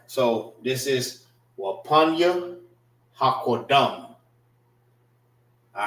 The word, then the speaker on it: Wapanya Hakodam: So this is Wapanya Hakodam. All right, which means face the east. Wapan, which is pronounced together. Let me write it like this. Wapanya Hakodam is spelled W Wapan PAN Ya HA Ha Qua QADAM.